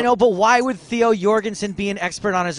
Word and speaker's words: Jorgensen: Another reporter from Denmark told me that we've been saying Theo Jorgensen wrong. Says it's Theo Jorgensen. But we've commentated with Theo Jorgensen. We've seen him interviewed on TV, and he calls himself Theo Jorgensen.